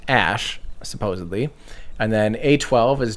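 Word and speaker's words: Æ: AE is actually in Elvish pronounced Ash, supposedly, and then A12 is just simply named after the predecessor to the SR-71.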